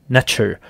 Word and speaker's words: NTR: the ancient Egyptian civilization NTR pronounced as nature some non- Egyptian egyptologists